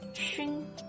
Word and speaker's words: 熏: And xi plus yu plus n makes 熏.